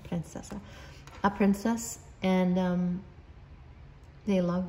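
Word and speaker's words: принцесса: So we have, this person sees you like a princess, that's how they say it in Russian, princessa.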